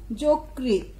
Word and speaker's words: যকৃত: করি তাহলে দেখব, যেমন যকৃত, যকৃত শব্দের উচ্চারণ হবে বর্গীয় জ কয়েরিকার তো যকৃত।